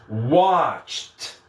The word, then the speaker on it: watched: eu colocar o ED, esse ED vai ter som de T. Né? Ó, então eu estou escrevendo um ED, mas eu pronuncio T. Então vai ser watched. Watched. Ó, som de T. Eu vou do CH direto para o T.